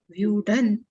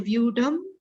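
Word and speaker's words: व्यूढं: Otherwise, you have to pronounce Drishtva tu Pandava Nikam Vyudhan. We can't say Vyudham Duryodhanastada. It is also uncomfortable in pronunciation. We have to pronounce like this. Vyudhan Duryodhanastada, then it is easy.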